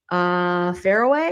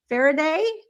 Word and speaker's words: Faraday: She passed away to keep it from Daphne and putting it in a Faraway. Did I say it right? Thank you. Faraday? I always say it wrong.